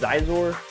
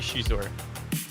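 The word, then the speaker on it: Xizor: rindar or Prince Shor how do you say Shor do you say Shor you say zor I think it's supposed to be Shor Shor is how it is in the audio book so you know what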